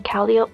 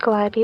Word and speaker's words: Calliope: In Act 6, the Cherubs are introduced, the two main ones being Calliope, which I know is pronounced Calliope, but bear with me, and Caliborn.